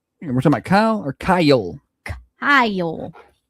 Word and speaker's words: Kyle: We're talking about Kyle or Kyle. Kyle. It's Kyle. Is it one syllable or two? Kyle. It depends what state you're in. Here it's two.